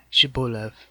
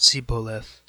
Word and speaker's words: Shibboleth: said they unto him say now Shibboleth and he said see polis for he could not frame to pronounce it right then they laid hold